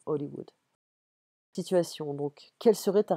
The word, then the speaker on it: Hollywood: souhaite travailler à hollywood en français on prononce pas le hb donc hollywood situation donc quelle serait